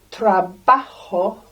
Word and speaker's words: trabajo: Today, mi pregunta es, ¿qué trabajo has hecho hoy? Lots of really good español in this. Trabajo. Notice the J makes a H sound. Spanish Santa says ho, ho, ho.